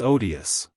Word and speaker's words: odious: it's odious at home I had always heard the first syllable of this word pronounced with a long o like OD but M and Madam swan made it short as in odd just think of it